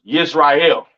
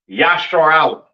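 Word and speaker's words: ישראל: what I'm saying and Israel is not pronounced yashar is not pronounced Israel in the Hebrew that is not how you pronounce Israel Israel is pronounced yah Allah all right yashar Allah all right meaning Prince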